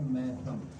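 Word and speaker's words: میثم: گا، کہ حضرت میسم، اصل جو تلفظ ہے وہ میسم تو نہیں ہے، ہم لوگ ہندوستانی میسم کہتے ہیں، اصل تلفظ جو ہے وہ ہے میتم، لیکن اب میتم کہیں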